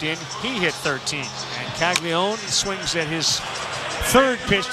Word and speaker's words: Caglianone: It's spelled Caglianone, like Caglianone, but it's just Caglione.